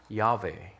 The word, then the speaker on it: Yahweh: And so that is YHWH, or as we pronounce it, Yahweh.